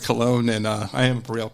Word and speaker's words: Colon: Well, Colon, for those of you who may be a little confused how to pronounce my last name, and I understand that completely. But Colon, and I am a Brielle Councilman, also co-founder of I.F.C.